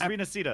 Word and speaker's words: Rinascita: saying, no, it's like it's Rinascita. These Western CCs, that's how it's pronounced. Y'all are trying to be the special. It's supposed to be with Rinascita. It's supposed to be with a she sound.